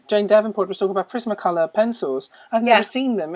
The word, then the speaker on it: Prismacolor: colors I love uh they're actually not called primac colorr I come from Montreal so I pronounced the you don't Prisma color Prisma yes but I call them Prima color because it's my French Roots but I love them